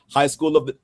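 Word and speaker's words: High School DxD: High School DD, because that's how you say it.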